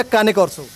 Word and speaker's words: Cane Corso: तो कलसी जी, सबसे पहले तो केन कोर्स हो या कैने कोर्स हो? कैने कोर्स हो। ओके, सही प्रोनाउंसिएशन इसकी, कैने कोर्स हो है।